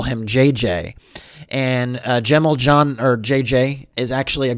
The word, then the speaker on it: Cemil Can: a C but actually it's actually pronounced like a J in Turkish so that's why actually a lot of his friends call him JJ and Gemmell John or JJ is actually